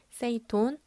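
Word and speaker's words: 整頓: 5S는 일본어로 정리, 정돈, 청소, 청결, 습관화를 발음했을 때 정리는 세이리, 정돈은 세이톤, 청소는 세이소, 청결은 세이케츠, 습관화는 시치케라고 합니다.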